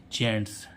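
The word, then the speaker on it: gents: ज बनता है लेकिन यहां पर जी से क्या बनना है ज क्योंकि इसके साथ में क्या आ रहा है जी ई आ रहा है है ना तो जी ई एन टी एस तो इसको क्या पढ़ेंगे हम जेंटस इसको क्या पढ़ेंगे हम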